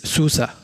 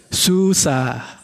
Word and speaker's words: SUSE: that your first how and now how to pronounce this war because it is a lot of confusion it is Susa I would like that you repeat with me